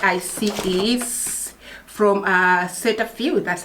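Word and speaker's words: Cetaphil: the first product i see is from uh set a few that's how you pronounce it gentle exfoliating cleanser all right now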